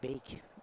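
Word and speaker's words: Beek: of pace from Logan I say beak not Bake you is it Logan Bake Bake I was told from my colleagues from radio don't care I'll go with Bake your pronunciation of it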